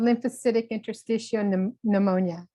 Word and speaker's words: lymphocytic interstitial pneumonia: you guys are giving me interesting words to pronounce here we go live Centric intestiophenoma pneumonia and Pulmonary Fibrosis two and a half years